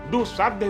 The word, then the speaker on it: दुसाध: इसलिए दुसाध शब्द के शुद्ध उच्चारण में दुसाध्य भी कहा जाता है।